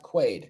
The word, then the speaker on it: Quaid: It's pronounced Quaid.